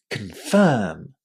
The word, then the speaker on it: confirm: as you can hear, the stress in that word falls on the second syllable, and because of that, our first syllable in this word is really, really short. You shouldn't say con. Try to say kun, kun, kun. Very, very short.